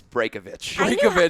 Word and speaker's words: Braykovich: It's Braykovich.